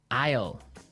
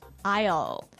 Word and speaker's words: aisle: spelled so strangely right we don't pronounce the S the S is silent that's true ale so